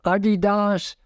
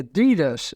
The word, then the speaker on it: Adidas: shoes from Adidas or Adidas as it actually is pronounced for the originator and founder of the company ad dasler a German started the big running